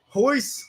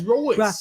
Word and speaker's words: Royce: Pronounce it with an H. Hoist, but it's with an R. It's Royce. But it's Portuguese, though.